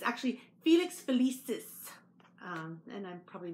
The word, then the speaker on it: Felix Felicis: taken it out of the bag and I mispronounced it last time I had said uh Felix Felicia but it's actually Felix felicis um and I'm probably mispronouncing so this is